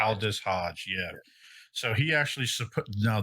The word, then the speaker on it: Aldis Hodge: That is Aldis Hodge. Aldis Hodge, yeah.